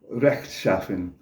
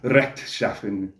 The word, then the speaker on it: rechtschaffen: of the letter R, because I always mistake this and I want to say rechtschaffen, like with a Spanish R, but it's rechtschaffen.